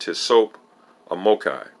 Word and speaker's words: TSOPAHMOCCI: for short it is an acronym entitled to sopomokai and pronounced to soap omokai it was divinely given to